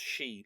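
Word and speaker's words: síd: uh she it looks like sid with a a father on the eye, but it's pronounced she like she for a woman, which is interesting, but there's no adequate translation of that word into modern English.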